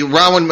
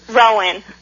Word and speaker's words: Rowan: about your groups and the rawan am i pronouncing that correctly the Rowan Rowan we we were all